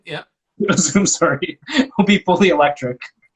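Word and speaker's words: Züm: Zoom, yeah. Zoom, sorry, will be fully electric?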